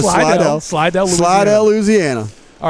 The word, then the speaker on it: Slidell: The proper pronunciation is Slidell.